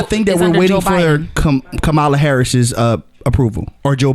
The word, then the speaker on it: Kamala: that we're waiting for kamala harris's uh approval or joe biden why did you put emphasis on the wrong syllable with her name yeah it's camilla camilla not even that it's kamala oh it's so i thought